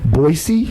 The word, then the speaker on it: Boise: It's my first time in what I learned how to say it correctly, Boise. Yes. The S. Yeah. Yes. This is my first time here in Boise.